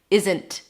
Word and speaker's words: isn't: You don't have to hold the T here. And there are a lot of native speakers who actually pronounce it like that. Isn't. Totally fine. But if you want to challenge yourself, try using a held T after an N, which is basically you're